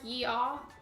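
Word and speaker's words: ja: yeah like that like yeah like is that like basically like you're saying Yeehaw without an H I don't mean that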